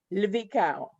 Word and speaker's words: Lvikao: It's the LV sound together, Lvikao.